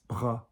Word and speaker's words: bras: It's not bras, it's bras, bras. I almost just let it as a bit of a plosive on the B.